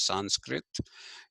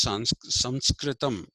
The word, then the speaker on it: Sanskritam: Now, with whatever little understanding of Sanskrit that I have, that book says you should not pronounce this as Sanskrit. You should pronounce it as Sanskritam.